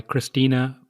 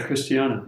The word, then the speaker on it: Christiana: So Well, I'm reading a book right now by Christina Figueres. Is that how you pronounce her name? yeah, Christiana. Yeah. Christiana, yes.